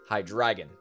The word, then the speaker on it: Hydreigon: That bothers me when people say Hydreigon, because it's Hydreigon. That's how it's actually pronounced.